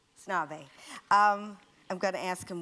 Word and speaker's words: Snabe: Snabe. Snabe.